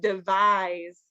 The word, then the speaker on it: devise: things um device and devise good so device with a c it's interesting because it's actually the S sound and then the S we don't we pronounce as a z English is weird so